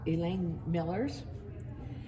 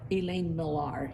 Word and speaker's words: Elaine Millar: I think that's yeah Elaine Millers and or Elaine Millar excuse me I mispronounced that and I had no